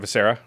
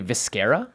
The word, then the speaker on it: Viscera: It's not Viscera. It's actually Viscera, like mascara.